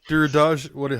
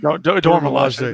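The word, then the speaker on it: Dora Milaje: Duradage? How do you say it? Dormilaje. Dormilaje.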